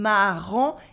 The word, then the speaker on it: marrant: In le marin, it is a un sound, an un sound, and marrant, it is a en sound with a silent T.